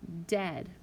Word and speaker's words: dead: Then we have our short EA, like in the word dead. Normally, two vowels together are going to give you a long sound, but in this case, it is a short E sound, eh. When we say dead, we hear eh.